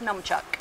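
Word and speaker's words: nunchaku: what we call the non-chaka or how is it pronounced it's numb chuck norm good so a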